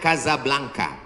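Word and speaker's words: Casablanca: Ibu kotanya tulisannya Casa Belanca. Cara bacanya Kazablanka.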